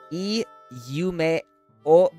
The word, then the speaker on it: いい夢を: Iyume o is how you would pronounce it very slowly.